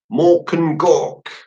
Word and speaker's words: Mork and Gork: talented and it's called Mork and Gork I always struggled with pronounce that I've got to say it like an orc apparently so Roshan Roshan